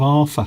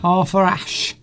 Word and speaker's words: Arthur Ashe: I need a bit of Arthur. Arthur Ashe. Arthur Ashe. Arthur. Because the TH would be pronounced like an F Arthur. in London. Arthur It's in the Ashe. middle of a word.